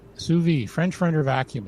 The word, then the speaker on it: sous vide: This is, I can never pronounce it, but it's sous vide. Sous vide, French for under vacuum.